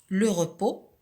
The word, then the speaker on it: repos: mais que l'on trouve au féminin qui se prononce. L'exercice d'application suivant. Écris la lettre finale muette au nom. Alors, se reposer, le repos.